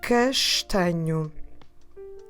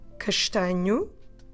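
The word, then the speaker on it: castanho: previous episodes and the word for brown is castano let me spell it for you see ah and here we go again throughout the four possibilities castignu we did this about the hair for instance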